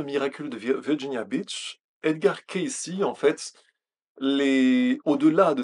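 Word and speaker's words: Cayce: tirés ce personnage c'est Edgar Casy C a yce prononcé K ici qui dans les dernières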